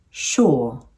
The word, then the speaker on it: sure: The first containing the short U sound and the second containing the long UR sound. Should, sure, pull, pour.